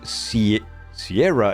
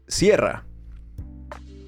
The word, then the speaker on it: Sierra: foreign to pronounce, because Sierra is a word in Spanish as well. I say as well. And in Spanish, the pronunciation is completely different, right? It's Sierra. So saying something like Sierra